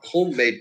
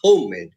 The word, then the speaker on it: homemade: we are fond of homemade pickles so not homemade we say homemade so that's that's another